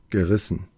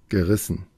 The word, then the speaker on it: gerissen: como en el audio, gerissen, es con esta. Ga. Ustedes quizás dirán, mire, yo escucho como que dicen gi, como que fuera una i. Y lo que pasa es que es el schwa.